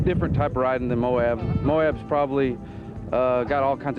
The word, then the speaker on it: Moab: Moab, Utah. Moab, Utah.